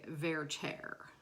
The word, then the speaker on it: Werther: Okay, so the pronunciation, which naturally I would get wrong in any circumstance, in opera world they say Werther, very pronouncedly Werther.